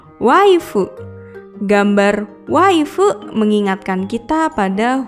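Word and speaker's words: ワイフ: Istri dalam bahasa Inggris adalah wife. Dalam pelafalan bahasa Jepang jadi waifu.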